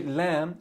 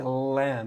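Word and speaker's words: لام: All right, but here lam, you're not gonna say lamb. You're not gonna make it heavy. It's gonna be like lam, lam.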